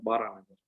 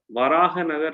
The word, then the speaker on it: Baranagar: Baranagar means Varahanagar. Varahanagar in the Bengali it is called as Baranagar. Varahanagar is the correct pronunciation of that.